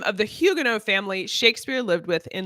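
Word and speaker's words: Huguenot: check sheeet what was the name of the Hugo family Shakespeare lived with in London and we learned in this episode that it is actually pronounced Hugo as opposed to hugenot um and I make I made that mistake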